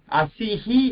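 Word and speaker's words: असिः: இப்போ அசிஹி அப்படின்ற இடத்துல இ அப்படின்றது தான் கடைசி லெட்டரா இருக்கு. அசி இ, அந்த ஈக்கு பக்கத்துல விசர்க்கம் இருக்கிறதுனால அசிஹி அப்படின்னு நமக்கு சொல்றோம். புரியுறதா?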